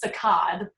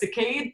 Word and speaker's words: saccade: recording, I actually Googled the correct way to pronounce it. All right, what did Google tell you? Google suggests that it's saccade, even though I always called it saccade, but I've heard both.